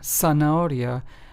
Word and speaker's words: zanahoria: So, as you can hear, centro, siesta, zanahoria, these are c, s, and z, but yet they all have an s sound to them in the beginning, right?